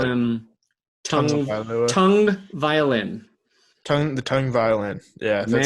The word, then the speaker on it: Tagovailoa: It is tongue. There is no N in his name, and yet you pronounce it with an N.